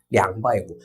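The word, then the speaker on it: 两百五: 1000자리 이상의 1000의 단위 숫자가 2가 오면 량. 근데 100에도 쓴다라고 했잖아요. 그래서 이거를 량바이우라고도 읽어요. 자, 량바이우.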